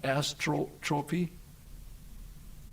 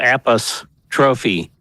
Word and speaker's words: apostrophe: How do you say astro trophy? No. Apos trophy. Appistrophy.